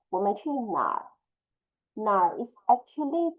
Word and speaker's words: 哪儿: It's actually mixed together, become nar. So the pronunciation will be 哪儿.